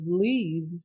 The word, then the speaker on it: leave: The verb leave finishes in E. Letter E is not stressed. It's not pronounced.